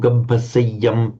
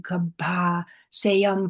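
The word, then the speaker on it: gabbhaseyyaṃ: So just say Nahijatu Gampasayam Punaretiti. Kammesu vinaya gedham nahi jatu gabha sayam punar etiti. Okay, you're a bit overemphasizing it as Gampa. That is a distinctly shorter.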